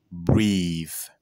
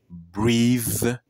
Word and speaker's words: breathe: Ce n'est pas breathe, mais c'est breathe. Breathe. Breathe. N'oublie pas de mettre ta langue de cette manière pour avoir une bonne prononciation.